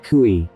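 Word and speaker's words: chui: associated with the lungs kui pronounced like chewie with a forceful exhale which is associated with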